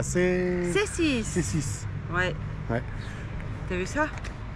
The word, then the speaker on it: Cēsis: À C6. C6. Ouais. T'as vu ça? Parfait. La prononciation parfaite.